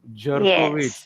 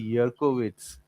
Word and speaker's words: Jerkowitz: Jerkowitz, which is actually Yerkowitz. So there are many names that start with J in Germany, Hmm. but they are pronounced with Y.